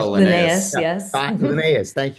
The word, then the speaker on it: Linnaeus: It's about the original taxonomist, the Swedish Linus, Yeah, is that how you pronounce Carl it? Linnaeus, Linnaeus.